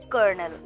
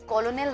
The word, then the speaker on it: colonel: उसको वैसे तो स्पेलिंग के हिसाब से पढ़े तो ये कॉलोनल होता है, लेकिन प्रोनाउंसिएशन इसकी होती है कर्नल की।